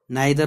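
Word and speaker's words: neither: और, नॉर, आइदर और, नाइदर नॉर, इसको हम ईदर और नीदर नॉर भी सही प्रोनाउंसिएशन के जरिए से पढ़ सकते हैं।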